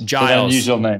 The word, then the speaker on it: Giles: your name is it a hard g on the front or is guile's right uh giles sorry about that i